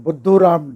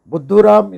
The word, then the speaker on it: Buddhuram: Buddhuram is a hindi word, which actually rhymes with Mr. Dumbo in English.